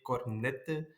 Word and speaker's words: Cornette: west of belgium and here we say cornette but a lot of people say cornette or cornet because they pronounce not the t and the e at the end but it's not a problem i recognize myself when they pronounce it so uh yeah it's just